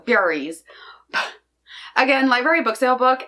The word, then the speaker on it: Furies: I keep wanting to call it the Furries, and it's not the Furries, it's the Furies.